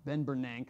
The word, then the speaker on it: Bernanke: Looks like it should be pronounced Ben Bernanke, but it's Ben Bernanke.